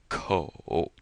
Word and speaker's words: 口: It's also the third tone, so it sounds like ko. I think of like a copay that you pay when you visit the doctor, or the food co-op, ko.